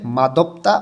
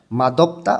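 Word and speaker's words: 맛없다: একটা উচ্চারণের রিয়ম আছে এটার উচ্চারণটা হয়ে যাবে মাদব্তা অর্থ স্বাদ নাই অর্থাৎ শিওত এরপরে যখন অ আসে তখন শিওরটা এই অ এর এখানে যে দ এর মতন উচ্চারণ হয় মাদব্তা অর্থ স্বাদ নাই ঝোম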